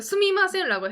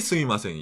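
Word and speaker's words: すみません: 그러니까 스미마생이라는 단어가 억양에 따라서도 많이 달라집니다. 예를 들어서 여기는 excuse me의 스미마생은 스미마생 이 스미마생이. 그렇죠. 스미마센. 근데 I'm sorry의 스미마생은 스미마생 스미마센. 이 스미마생. 억양의 차이 때문에 여러 가지 뉘앙스가 달라진다는 거죠.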